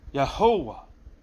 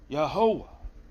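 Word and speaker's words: Yehovah: What does that pronounce like? Yahovah. Yahovah. Where's the emphasis? On the middle. Not on the last syllable, but in the middle syllable.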